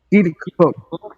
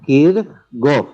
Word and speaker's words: Kirchhoff: Los dos casos están mal, porque este es un idioma este es un apellido que viene de qué idioma? Del alemán. Del alemán. Entonces, deberíamos pronunciarlo como alemán y no como inglés, porque no es inglés.